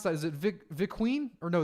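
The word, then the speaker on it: Vinkeveen: Hello from, how do I pronounce that? Is it Viqueen? Or no, it's Vinkieven.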